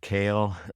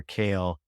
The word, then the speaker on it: Keel: massive I think otar kale ke L it looks like Keel but pronounced kale Oar kale is really a Pioneer